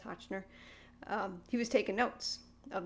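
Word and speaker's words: Hotchner: were based on and mr hochner that's his name hochner if i said it wrong before it's hochner he was taking notes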